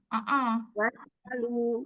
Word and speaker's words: واسألوا: ولا تمسكوا بعصم الكوافر واسألوا Was'alu. Tunaikan dua harokatnya. was'alu.